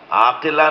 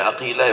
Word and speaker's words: عقیلہ: بیت کا کمال ہے۔ عقیلہ، عقیل، عاقلہ نہیں، عقیلہ۔ جس لہجے میں قمر بنی ہاشم بولا جاتا ہے نا، اسی لہجے میں عقیلہ بنی ہاشم بولا جاتا